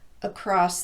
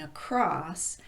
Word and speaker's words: across: But we emphasize the second syllable in across simply by elongating it a bit more than the first syllable. Across the street. It would sound kind of strange to say across the street.